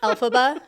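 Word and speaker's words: Elphaba: tie-in he's like oh hey Fel instead of alphaba that's her name right alab it is yeah proud of my work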